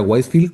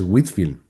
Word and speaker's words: Whitefield: También en Estados Unidos, movimientos en el siglo XVIII, con Jonathan Edwards o Whitefield, que no se pronuncia Whitefield como yo pensaba al principio. Cuando leí primera vez el nombre es Whitfield.